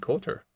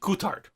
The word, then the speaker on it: Coulthard: then David Coulter cool Coulthard cool guitar cool yeah it's got a D at the end B no you know it's pronounced mostly French except for the end then you just say the D it doesn't matter here